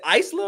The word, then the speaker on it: Isla: But yeah, I mean like um is it Isla or Isladon? I always I always Isa silent. The S is silent.